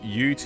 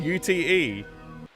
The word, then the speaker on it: ute: recently heard an American pronounce it UT and I'm like that's so wrong. Wait, they just said UTE.